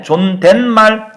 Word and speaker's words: 존댓말: 근데 존댓말 발음할 때 니은 들어가죠.